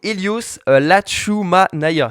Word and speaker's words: Hélios Latchoumanaya: Du coup, Helios Lachumanaya, c'est ça? Ça, Exactement. j'ai bien.